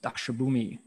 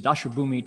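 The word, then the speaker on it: Daśabhūmi: they were known as the dakshabumi section of the gandavuha sutra entering the dharma realm i'm sorry i said it wrong the uh it's the dashabumi chapter and it's the uh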